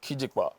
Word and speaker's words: Kijipa: It's It's Kijipa, pronounced as Kijikpa.